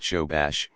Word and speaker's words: shabash: of the public 248 Arab shabash pronounced in Egypt shaash it is the Persian